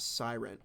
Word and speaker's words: Sirin: defense s on skyscraper Sirin is pronounced siren I'm so sorry pre-built